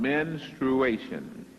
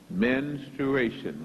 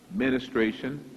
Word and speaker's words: menstruation: It is based on menstruation. Menstruation. Many times it is pronounced ministration. That is not correct. But one thing is, it starts with men.